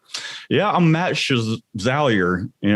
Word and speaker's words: Chevalier: And my last name, like it's very, very few people can pronounce it right. It's Chevalier. Most of the time they're like Chevalier.